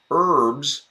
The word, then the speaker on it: herbs: then a silent h a silent h Miriam yeah herbs even though there's an H there yeah it is not sounded a herd of hungry